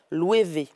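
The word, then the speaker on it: Loewe: ça s'écrit l' et ou mais ça se prononce louv voilà ça se prononce louevv et il a habillé aussi justement Ariana Grandet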